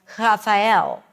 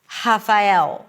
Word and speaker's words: Rafael: But for some speakers, they only have a R sound and a sound like Raphael. Raphael, like an H sound.